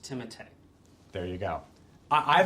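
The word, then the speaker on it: Timothée: that i've named timotey chalamet not timothy timothy pronounced timothy there you go i i thought we were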